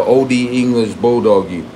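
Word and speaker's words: Olde English Bulldogge: The E is not silent. OD English Bulldoggy.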